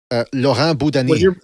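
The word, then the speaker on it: Laurent Boudouani: Laurent Boudani. Okay, I always pronounced it differently.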